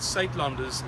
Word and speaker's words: Suidlanders: to the South African accent yes the word sat lunders is spelled s u i d l a n